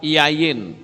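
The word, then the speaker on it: יין: Anggur itu bahasa Ibraninya adalah yayin. Yod, yod, nun, sofit. Itu yayin.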